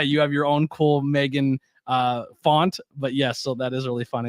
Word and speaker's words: M3GAN: it again but uh Meg which is with the three uh pronounced Megan is a 2022 American